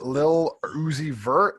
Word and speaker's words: Lil Uzi Vert: How do you pronounce that? Lil Uzi Vert.